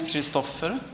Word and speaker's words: Christofer: uh didn't help with my imposttor syndrome but still uh so my name is Christopher uh that's the Swedish pronunciation of Christopher uh I'm a pathologist